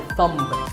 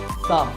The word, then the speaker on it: thumb: It's not my thumb. It's pronounced thumb.